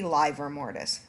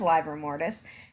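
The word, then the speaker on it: livor mortis: or liver mortis so it's supposed to be live or mortise but nobody says liver mortis and so one of my cultural pet peeves is so now the people that say it right sound like they're wrong um so whatever you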